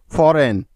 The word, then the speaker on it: foreign: এন এর আগে জি থাকলে ওই জিটার উচ্চারণ হয় না, অর্থাৎ সাইলেন্ট থাকে। যেমন sign, SIGN, sign. ডিজাইন, DESIGN, ডিজাইন। ফরেন, FOREIGN, ফরেন।